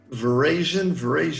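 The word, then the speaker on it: véraison: So grapes now are either just started Veraison, I think that's how you say it, when the color changes from green to red. It's French, Veraison. French. But in English we say Veraison, but it's Veraison.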